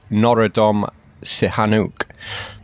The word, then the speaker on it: Norodom Sihanouk: This stupa houses the remains of the 20th century Cambodian king, and pardon my pronunciation on this, but it's Norodom Sihanouk.